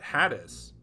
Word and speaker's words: Hades: mortal enemy though is called hades or as they pronounce it haddis haddis simon simon is